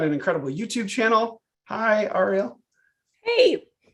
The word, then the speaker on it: Ariel: Ariel, like the mermaid.